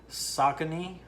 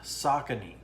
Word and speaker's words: Saucony: at it right now just make sure i pronounce this right saucony yeah saucony is the company they make uh running shoes